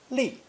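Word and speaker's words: 力: to tow the soil pronounced fourth tone li li meaning power or strength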